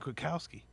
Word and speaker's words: Bukowski: he's their damn dear he's Nick Bukowski he will like it rhymes with Rob Gronkowski it's just a meathead